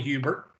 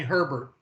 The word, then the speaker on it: Hubert: hubert yeah and nobody calls me hubert everybody calls me herbert i want you to look at my name my name does not have an r on the first syllable it is a conspiracy